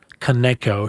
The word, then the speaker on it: Kaneko: the director Shusuke um How do you say his last name? Kaneko.